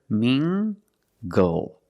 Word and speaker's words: mingle: at this word mingle using the nasal sound and the hard G together mingle mingle mingle is a